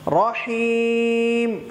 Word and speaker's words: الرحيم: ما এক লিফটান, রহিম হাটাকে শক্ত করে তিন লিফটান, রহিম।